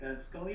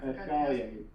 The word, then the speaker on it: Scullion: Scully, am I pronouncing that right? Scullion. Yep, Scullion, correct.